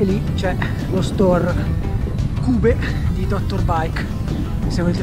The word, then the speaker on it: Cube: Cube perché la pronuncia è tedesca, io dico sempre Cube ma si dice in realtà Cube.